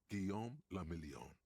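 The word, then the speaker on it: Guillaume Le Million: Gon Lamelon. If it doesn't rhyme, you're not pronouncing it right.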